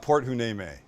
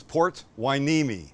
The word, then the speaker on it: Port Hueneme: It's not Port Hueneme. It's Port Hueneme.